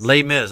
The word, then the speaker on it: Les Mis: movie uh let's Miss uh he tweeted from Les Miz late what is it pronounced Les Mis Les Mis okay all right Les Mis lay flat never